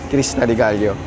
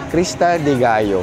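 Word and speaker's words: Cresta de Gallo: kabat ride going to Krista dealo. Krista de Gayo hindi siya Dealo. No basta Spanish if it's double L it's it pronounced as Y.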